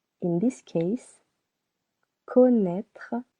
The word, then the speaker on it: connaître: In this case, connaître has two syllables. Co naître.